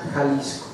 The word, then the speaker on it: Jalisco: Jalisco, en el término original se escribe X, Jalisco, pero se pronuncia Jalisco, ¿sí?